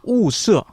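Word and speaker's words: 霧社: 우서. 중국어 발음으로는 우서고 실제 음.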